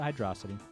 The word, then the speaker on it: Hydrocity: I pronounce it Hydrocity.